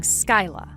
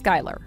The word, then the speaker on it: Skyla: Do you read that as Skyla or do you read that as Skylar? Huh? You're supposed to read that as Sky. Sky. So your name is Sky, yet you spell it? It's spelled Skyla, but you read it as Sky.